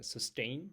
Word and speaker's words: sustained: It's uh the 10th word word is sustained. Sustained, the second uh the stress is the second syllable is stressed.